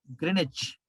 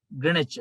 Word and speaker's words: Greenwich: green h w silent greenwich next to london uk uk it is pronounced as grenache in uk english uk english greenwich w silent w silent please sponsor us greenwich